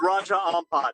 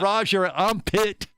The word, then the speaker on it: Raja Ampat: It's Raja Ampat. Exactly, not Roger Armpit.